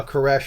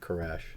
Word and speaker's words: Koresh: doctrine of Cyrus now koresh and Cyrus says the same thing caress is just a more Hebrew pronunciation of Cyrus so David Cyrus David koresh same thing now Cyrus